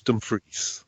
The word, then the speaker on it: Dumfries: Can I just point out that that's the correct pronunciation, not Dumfries, as people seem to say several times in the episode. It's Dumfries.